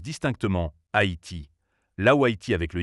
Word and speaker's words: Haïti: En effet, la graphie Haïti correspond mieux aux règles du français, le trément indiquant que le A et le I se prononcent distinctement Haïti, là où Haïti avec le Y pouvait prêter à confusion.